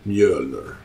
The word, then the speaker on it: Mjölner: builder built around this weapon and this is me owner which are pronounced in Sweden actually pronounced upright Mueller and this weapon and I'm gonna hit something